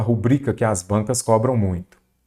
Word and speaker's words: rubrica: É rúbrica ou rubrica? Ela é rubrica, ela é uma palavra paroxítona terminada em A.